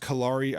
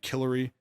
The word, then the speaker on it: Kari: Samantha uh Kari I I think it's pronounced Kari I think in the intelligence briefing last I pronounced it killary because it looks like Hillary but instead of an H it's a k so I think i'